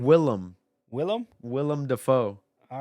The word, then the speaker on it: Willem: you keep saying why do you keep saying William what is his name Willem Willem Willem Dafoe all right I also pronounce it Denzel not Denzel like but his